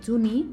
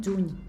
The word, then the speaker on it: juny: La NY, el dígraf NY, sabem que es pronuncia com la enya en castellà, és a dir, que no diem juni del mes, diem juny, d'acord?